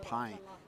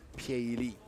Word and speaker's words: Pieyili: speaker to read it, it's not Pie. You would see that English p i e is actually Pie. Piei Li. So, the pronunciation is obviously slightly different.